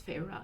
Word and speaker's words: Feyre: uh feyre feyre feyra i believe it's feyre that's how it's pronounced um uh she ends